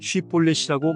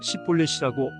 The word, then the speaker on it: 쉽볼렛: 그러면 쉽볼렛이라고 말해보라 하고 그들은 요구했다. 그러나 만일 그가 십볼렛이라고 잘못 발음하면 그를 잡아 요단 나루터에서 죽였다.